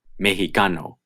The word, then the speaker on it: mexicano: Most of the time it is pronounced x, like English, but there is another pronunciation, h. You will only hear this pronunciation in proper nouns and words derived from proper nouns, like Mexico and mexicano.